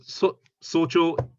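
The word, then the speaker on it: 早朝: Normally, I've normally heard this pronounced in the kunyomi, haya asa. Sorry. Haya asa. So this is exactly these two kanji read in their Japanese reading, haya asa. But socho, we've all learned a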